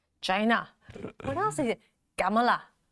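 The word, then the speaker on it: Kamala: Gamala. He has his emphasis on the last syllable.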